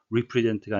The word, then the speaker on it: represent: 철자 re는 re라고 주로 발음을 하는데요. 항상 그런 것은 아니고 본문에 나온 것처럼 recognize 아니고 recognize, represent가 아니고 represent, 발음에 유의하셔야 되겠습니다.